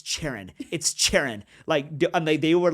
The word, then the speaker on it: Charan: It's Charan. Yeah, it's Charan. And I'm like, guys, it rhymes with Darren or Karen, but it's Charan, you know.